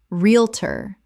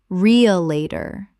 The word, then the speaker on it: realtor: Realtor. Common mispronunciation. Real-a-tor. Correct pronunciation. Real-tor. Two syllables in natural speech. The middle syllables collapse entirely.